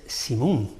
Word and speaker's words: Simún: La palabra semánticamente es Simún, con acento en la U.